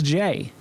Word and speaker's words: Gey: a matter of fact it's jay you know like jay jay jay well i apologize then